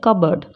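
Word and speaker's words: cupboard: जैसे कि खूब इसमें पी साउंड की साउंड नहीं आएगी कप बर्ड बोलते हैं कप बर्ड नहीं बोलते कबर्ड रसबेरी अब इसमें स्पेलिंग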